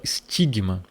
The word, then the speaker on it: stigma: no grego moderno, chamada stigma. E essa letra aqui, ela não tem som de S, nem de C e nem de T. Ela era uma junção. Ela tinha um som de st junto.